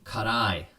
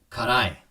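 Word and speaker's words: 辛い: bite from the carbonation karai okay so i'm gonna say it at japanese speed karai karai okay say it after me karai and this is one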